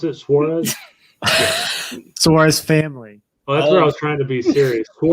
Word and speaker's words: Suarez: That's how you pronounce it, Suarez.